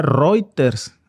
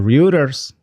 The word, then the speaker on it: Reuters: Dice Funam Funambulizar se pronuncia Reuters. Ah, cabrón. Bueno, eh pues una disculpa, como yo lo veo que es de inglés, pues no digo Reuters, digo Ruters o reuters.